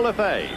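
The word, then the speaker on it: Lefebvre: So Joe Lefay spells his name the same way but pronounces it differently from the Dodger infielder Jimmy Le Fever.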